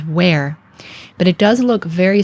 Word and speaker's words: wr: from other birds well this was used for the sounds W and R so in modern times we pronounce this as where but it does look